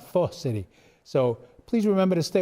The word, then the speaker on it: Pho City: We also have a new Vietnamese restaurant and bar at the Loop called Pho City. And no, I didn't mispronounce that. I was coached all day. Pho City.